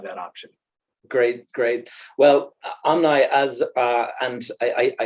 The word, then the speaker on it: Omni: to um have that option great great well amni as uh and I I I pronouncing your your name correctly thank you for